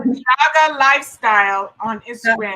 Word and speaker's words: Yaga: From my source is Yaga Lifestyle. They're on Instagram. They're on how do you spell that?